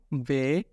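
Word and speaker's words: We: টিটাকে আমরা ডয়েচে বলবো টে টে, ট্রিক ট্রিক টে, ইউটা হয়ে যাবে উ, এবং ভি হয়ে যাবে ফাও ফাও, এবং ডাব্লিউ হয়ে যাবে ভে, উ ফাও ভে ইক্স।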